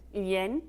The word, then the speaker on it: G: Tell me how to say it. Johanne Yang. Yin? Yes.